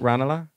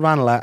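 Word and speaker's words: Ranelagh: No, it's called Ranala, and then sometimes people say Renla, and then they think it's posh to say Ranala, which is chilly because it's just that's actually just the correct pronunciation.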